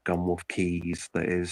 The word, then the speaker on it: Quays: So key is just plural. Keys is just plural of key, and a key is a like a feature of a port.